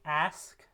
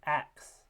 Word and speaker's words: ask: englishes do this but in a word like ask um with SK sequence being pronounced instead with a KS or an X um sequence so ask becomes ax um this is a metathesis of those two um sounds just because it